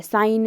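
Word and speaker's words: sign: साइन में G साइलेंट है ना।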